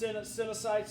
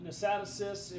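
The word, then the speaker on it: cnidocytes: All right, so basically they get their name from a thing called, that's pronounced cynocytes or nosatocysts. I mean, you can kind of say it, the C can be silent, it doesn't matter, okay?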